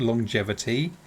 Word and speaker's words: longevity: So, you know what's weird with the word longevity? We pronounce the G twice.